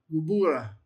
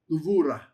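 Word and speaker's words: גבורה: Gevurah. Gevurah. Wee, fun one to pronounce. You have the gimmel, you have the sheva, you have the bet without any dagesh lene, so it's a v sound.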